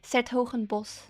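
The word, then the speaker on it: 's-Hertogenbosch: Truth be told, though, with that one, it's written really weirdly, so I guess I can understand why people couldn't, because it has a lot more letters than that you actually hear.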